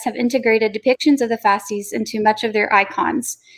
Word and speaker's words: fasces: and the fourth one i think it's pronounced the fasces is that how you say it jonathan yes okay fascist